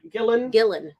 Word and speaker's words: Gillan: Gillen.